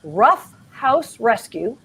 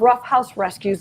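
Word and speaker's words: Ruff House Rescue: long island new york by the name of rough house rescue that's spelled r-u-f-f house rescue based in long island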